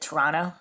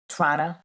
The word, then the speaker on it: Toronto: It now has its headquarters in the Simpson Tower in Toronto or uh I think as Canadians pronounce it, Toronto. Toronto.